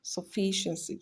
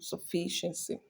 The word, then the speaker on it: sufficiency: that means it's going to be stressed on the third cable to the last again so we have sufficiency which is option uh C option C that is where we have uh the Fe syllable stressed so our correct answer is